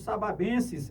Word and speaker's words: sababenses: Rapaz, e os filhos de vocês aí, os sababenses, é assim que se pronuncia, professor Dezinho? Sim.